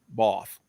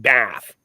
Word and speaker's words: Bath: actually I was told it was called It's pronounced boss okay spelled bath they said it's not bath so this is a church and this is